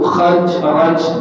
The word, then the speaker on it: Khazraj: Ra, kemudian jim, kemudian kha, zai, ra, jim, Khazraj. Jadi suku Aus dengan suku Khazraj, kha, zai, ra, jim, Khazraj.